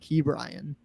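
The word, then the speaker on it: Ke'Bryan: like a 700 average brian hayes is gonna have a crazy bright yeah no it's actually i heard it's actually pronounced key brian key brian oh yep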